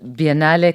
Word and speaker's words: biennale: how do you pronounce Bin Ali correctly without butchering it? So Biennale comes from, actually, it is biennial in English. Okay. But it comes from the Italian word biennale.